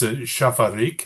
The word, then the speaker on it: Šafařík: Um, because but I think it's Shafarik.